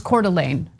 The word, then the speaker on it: Coeur d'Alene: Yes, and I want to get to that document right now, actually, and it's Coeur d'Alene. So I know how to pronounce it, I just got a little shaky about it.